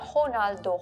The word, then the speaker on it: Ronaldo: Korean like when they they don't say Ronaldo they say honalo ho so they they picked the bra Brazilian pronunciation yeah like likeo but I